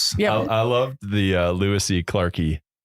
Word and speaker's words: lewisi clarkii: I I loved the lewisi clarkii. Like Is that how you say it? Or is it a long I? that works. Lewisi clarkii. Yeah.